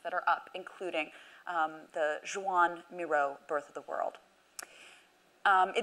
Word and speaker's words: Joan Miró: I don't speak Catalan, but it's my understanding that his name is pronounced Joan Miró, and so we will go with that.